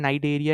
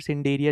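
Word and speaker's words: Cnidaria: इसी तरीके से जो आपको यहाँ पे दे रखा है नाइडेरिया या फिर सिंडेरिया, जैसे भी आप इसको प्रोनाउंस करो, इसका एग्ज़ाम्पल होता है यहाँ पे जेलीफिश, ठीक है?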